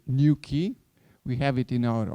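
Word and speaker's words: Nuki: neighboring Austria in Graz a startup called new key you can pronounce it new key we have it in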